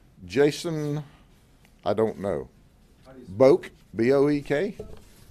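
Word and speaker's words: Boek: That's Polk County pronunciation. All right. So I'm gonna go with that is subject to modification by someone who may have a different interpretation being the family, but we call him Boak.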